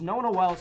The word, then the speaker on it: Nona Wells: All right, so correction, it is Nona Wells.